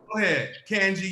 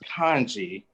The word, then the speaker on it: Kenji: and where you're from Kenji you first okay okay so my name is actually pronounced kanji oh but mother calls